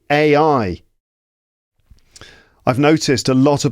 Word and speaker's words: AI: good place to start just pronounce AI right so a I repeat it after me a I but what happens when